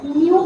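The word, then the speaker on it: nu: Pronounce हम इसे न्यू करके बोलते हैं, है ना भाई।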